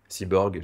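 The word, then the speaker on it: C-borg: apprivoiser les C Borg cyborg, j'essaie de réinventer un peu le terme de cyborg avec une connotation plus positive. C'est c tiré borg pour creative borg mais prononcé Cyborg, Voilà.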